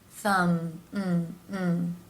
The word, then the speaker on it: thumb: of mm and finally the M consonant sound where the lips come together mm-hmm thumb and the be here is silent rule of thumb